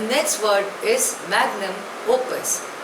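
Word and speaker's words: magnum opus: lingua Franca of India the next word is मैग्नम ओपस spelling is एम ए जीी एन यू एम ओ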